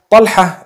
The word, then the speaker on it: Talha: Talha is the proper pronunciation.